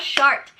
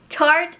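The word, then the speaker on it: Tarte: I put some short why do I always say shark it's not a shark it's tart shaped tape concealer I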